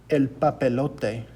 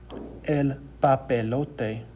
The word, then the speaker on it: papelote: papy low t because we know that an a makes an ah sound and e makes an a sound and an o makes an o sound so it becomes next up we have